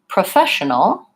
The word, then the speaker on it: professional: It doesn't have an O. It's unstressed, and it sounds like pra. So sometimes, again, there's our schwa, our unstressed sound. Professional has the schwa.